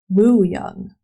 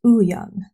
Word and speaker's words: Wooyoung: Okay, I'm glad that underneath the names, she's writing it like how you say it, because I would have pronounced his name as Wooyoung. But it's Ooyoung. Okay.